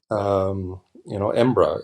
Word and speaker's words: Embra: It's the colloquial saying, way Scots pronounce Edinburgh, Embra, and so that's part of it as well.